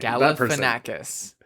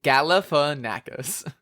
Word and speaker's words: Galifanakis: Galafanakis. Galifanakas. Say it with me. Say it with me. Galifanakis.